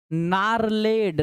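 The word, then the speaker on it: gnarled: ज्यादा ओल्ड, मतलब पुराना, ये जी साइलेंट है, नारलेड, नारलेड का मतलब गठीला, यानी कि टेढ़ा मेढ़ा, यानी कोरा ज्यादा पुराना, गठीला, टेढ़ा मेढ़ा कद्दू पसंद नहीं था।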